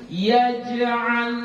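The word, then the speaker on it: يجعل: Jadi kayak mana bacanya? Kita baca alam yaj'al, yaj'al. Jadi bukan alam yaj. Nah, kalau sudah sampai ke yaj, nah itu nanti dia sudah terlalu besar. Padahal dia ini hanya sughra, kecil saja.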